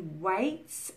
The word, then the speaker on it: waits: So waits has no vibration. So if you are holding here and you hear a vibration, then you're pronouncing it incorrectly. Waits. The sound of the s in waits comes from your mouth, not from the vibration in your throat.